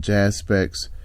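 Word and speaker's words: Jaspects: the group is called Jazz specs uh I'll spell it for you J a s p e c TS so it's like aspects with a J and I'm telling you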